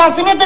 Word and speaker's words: alfinete: Olha, experimento picar o dedo no alfinete a ver se não é agudo. Menino Tonecas, alfinete é uma palavra grave, porque tem o acento na penúltima sílaba.